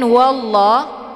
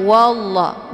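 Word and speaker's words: والله: bunyi ha Min kemudian wallah ini juga lafaz Allah yang dibaca tebal yaitu wallah karena sebelum lafaz Allah berharakat fathah yaitu wa Jadi dibacanya wallah bukan walla tapi ditebalkan yaitu bacaan tafkhim wallah dan untuk la-anya dibaca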